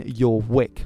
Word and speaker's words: Jorvik: There is actually some debate as to whether the V in Old Norse is pronounced in as a V, as in valiant, or if it's pronounced as in a W, as in where. So it might have been Jorvik, which again sounds a